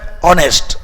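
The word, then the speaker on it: honest: Literacy and pursue है ऑनेस्ट. सीधा सा लॉजिक है, यह आर्टिकल का बेसिक रूल है. ऑनेस्ट किससे उच्चारण हो रही है? वॉवेल साउंड से. ऑनेस्ट अ से उच्चारण है, और जब अ से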